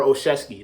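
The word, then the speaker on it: Olszewski: know how to say his last name gunner oshevsky there we go governor oshevsky uh hopefully hopefully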